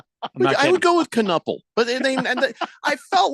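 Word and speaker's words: Knueppel: E L, but literally it's literally pronounced Canipple. I would go with Canel, but they and I felt like they talked about him a lot more than they normally would.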